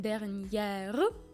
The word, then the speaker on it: dernière: parce que la semaine dernière on prononce R à la fin et Eangra parce que la semaine c'est le mot au féminin.